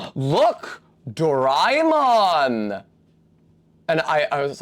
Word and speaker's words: Doraemon: The specific guy who's talking to me about it pronounced it like a J, like Doraemon. Like in the same way that a D somehow sometimes becomes a J in contexts in British English.